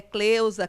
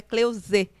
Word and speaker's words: Cleuze: Cleusa, Cleusi, então, mas é Cleuze.